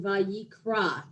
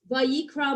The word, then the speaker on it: Vayikra: want to point out the very first word in Vayikra has a very small letter, an aleph, which is a silent letter. So Vayikra means and being called.